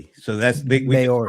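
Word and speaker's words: Māori: Well, and it's pronounced with two syllables. Maori.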